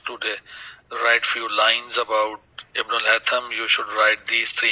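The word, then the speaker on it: Ibn al-Haytham: To talk about Ibn al-Hatham, that we pronounce as Ibn al-Hasham. Sheen is not there in the Arabic language, so we will call it as Ibn al-Hatham.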